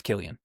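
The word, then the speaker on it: Cillian: two like the better actors of our generations Killian Murphy another guy Robert Downey Jr. I mean, Killian, it's Killian.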